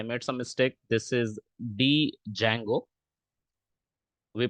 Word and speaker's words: Django: It's already available there, क्योंकि Django एक framework है जो फास्ट डेवलपमेंट में यूज होता है।